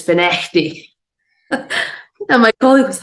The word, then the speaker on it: Findochty: It's not Findochty, it's Finechty."